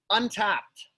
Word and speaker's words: Untappd: Untapped. Untapped. Okay, perfect. Yep. It's spelled funny. It's UNTAPPD. So it's Untapped without an E. Without the E.